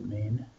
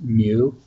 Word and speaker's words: mu: hear it pronounced as mu like a cat or Moo like a cow or but the Greek way of saying it that the actual way to pronounce it in greek is me you'll probably hear it